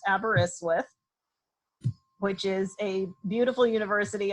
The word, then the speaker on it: Aberystwyth: earth is and I can tell you it's pronounced Aberystwyth which is a beautiful University on the coast